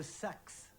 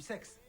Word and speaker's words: Sax: oui d'accord j'y suis c'est la route de sax pas du sexe 34 route de sax